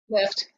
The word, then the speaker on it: LIIFT: Jen, how do you pronounce that? Lift.